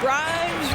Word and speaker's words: Grimes: Grimes rhymes with dimes, on time right there.